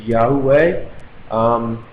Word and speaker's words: Yahweh: We believe the pronunciation is Yahweh, where we believe in proclaiming the name.